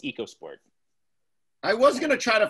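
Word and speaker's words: EcoSport: has convinced everyone to pronounce it echo it's pronounced echo sport echo sport and yeah that just makes you wondering it's eco sport i was gonna try to find a first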